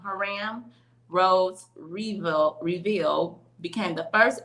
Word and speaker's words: Hiram: Herman Rhodes Reveal became the first African American to serve in the U.S. Senate. I said that all wrong, y'all. Herman or Hiram. I'm saying it wrong. Hiram Rhodes Reveal became the